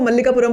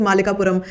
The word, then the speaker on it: मालिकापुरम: पहली बात तो ये कि मुझे इसका पहले प्रोनाउंसिएशन ही नहीं आता था, मैं इसको मल्लिकापुरम बोलती थी, लेकिन the real pronunciation is मालिकापुरम, which means something.